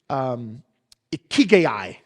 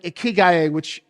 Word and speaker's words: ikigai: The first is ikigai.